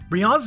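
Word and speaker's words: Brionne: the sun dessentry Breon brion's name could be a reference to Beyonce and Rihanna since it's pronounced Brion and also Brienne is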